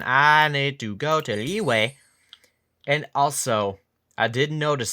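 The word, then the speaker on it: Liyue: wrong way stupid me they all pronounce it leeway but anyway also pymon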